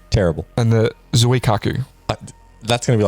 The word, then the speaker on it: Zuikaku: Let's hear your Japanese pronunciation. The Shokaku. Terrible. And the Zuikaku.